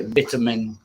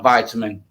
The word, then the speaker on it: vitamin: language and your pronunciation it's actually vitamin it's not vitamin my fault have you